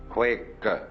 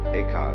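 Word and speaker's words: 慧可: Huike in Chinese. Eka is Japanese pronunciation, like Zen is the Japanese pronunciation of the Chinese Chan.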